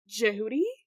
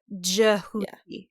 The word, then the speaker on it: Djehuti: So, and the Egyptian, he pronounces it in the book like Djehuti, or at least Sadie does.